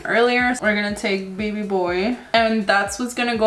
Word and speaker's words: BB Boy: color called bb boy or baby boy um it's spelled bb boy so we're gonna go